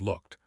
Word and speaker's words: looked: So look plus E D equals looked. Imagine the e is gone. Visualize the word spelled l o k looked. One syllable.